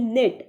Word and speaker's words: knit: Next है KNIT निट, इसको हम निट पढ़ते हैं, इसका फर्स्ट K जो होता है वो साइलेंट हो जाता है, तो इसको सर्कल कर लें।